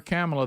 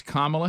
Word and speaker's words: Kamala: way remember early on stop calling her camela that shows you don't care enough to say her name right it's Kamala Harris we were also because